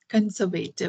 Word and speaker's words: conservative: And also we say conservative, conservative, Yes, but that's incorrect. yes. The correct pronunciation is conservative.